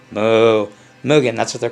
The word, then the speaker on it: Mugen: Mugen, like almost like moo, like a cow. Moo, Mugen.